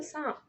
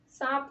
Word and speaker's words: سانپ: اس کا ایگزامپل سانپ۔ سانپ میں بھی نون ہمارا نون غنہ ہے اور یہ ناک سے پڑھا جا رہا ہے۔ آپ اس کو سانپ نہیں پڑھ سکو گے کیونکہ اس کا ایک غلط تلفظ ہو جائے گا سانپ، تو آپ اس کو کیا پڑھو گے؟ سانپ، ٹھیک ہے۔ اس کا دوسرا اصول